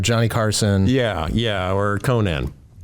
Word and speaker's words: Conan: carson yeah yeah or conan it's conan so conan that's schwarzenegger it's spelled the same it's pronounced differently it should be said